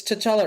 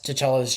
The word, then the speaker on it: T'Challa: the boys accidentally pick up um t'challa it's t'challa right yeah yeah i i had always difficulties pronouncing that um rest in peace chadwick um